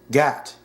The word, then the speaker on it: Gat: so gangster and poetic Gat rhymes with bat alluding to bad out